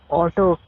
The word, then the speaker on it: Aalto: He's pronounced Otto. Come on, I think Alto for so long. The I don't get how he's pronounced Otto. Must be some kind of localization.